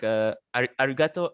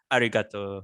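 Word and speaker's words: arigatō: So you need to stress I don't know, maybe gato, right? Ari, you don't really put stress there.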